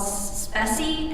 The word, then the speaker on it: Speccy: There's also a tool now called Speccy, S-P-E-C-C-Y. I think that's how it's pronounced.